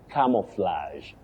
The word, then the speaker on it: camouflage: No, you say camouflage. Camouflage. Flage, not fledge.